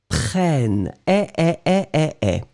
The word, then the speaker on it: prennent: Because when you've got and then double N right after, double consonant, it will open the sound of the So you'll pronounce prennent, So remember, so nous prenons because only one N. Vous prenez because only one N. Ils prennent because you get two N's.